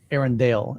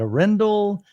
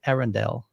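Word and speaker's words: Arendal: or let me think Aaron Dale is how they pronounce it I even asked him I'm like Hey how do you there's like this debate on is it a Rendell and he was like it's actually Arendelle I went okay cool so I'm gonna try to pronounce it Aaron Dale for now on but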